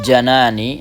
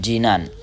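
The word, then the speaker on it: جنان: Wakunu bil janani. Nah, ini perhatikan cara membacanya janan ya, bukan jinan.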